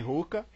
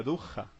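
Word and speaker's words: ruach: Ó a pronúncia. Rurra, tá? Não é rurra nem ruca, é rua, tá?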